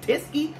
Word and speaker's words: Teskey: these brothers a chance tiske rhymes with whiskey to me huh another